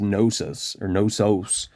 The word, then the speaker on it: Knossos: the main site of, I pronounce it as Knossos, very similar to, the Helio-Gnostics, phonetically speaking, in the early 20th century.